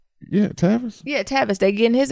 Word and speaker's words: Tavis: Yeah, Tavis.